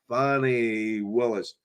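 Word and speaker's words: Fani Willis: So she made sure she told everybody her name is not to be mispronounced. It's Fannie Willis.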